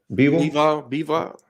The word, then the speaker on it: Bivol: Bivol.